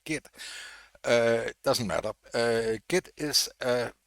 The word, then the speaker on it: Git: Today we are going to talk about GIT or JIT. I tend to pronounce it JIT, but I think the correct pronunciation in English is probably GIT.